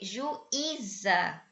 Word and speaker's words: juíza: tem acento tem Ok juíza você tem três sílabas e ui ele fica sozinho na sílaba tá Oi e aí